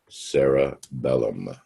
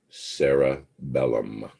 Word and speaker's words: cerebellum: uh page 463 and that part back there and the word is pronounced the cerebellum not to be confused with cerebrum remember that's the brain the cerebellum is your mini brain again it's pronounced cerebellum the mini brain and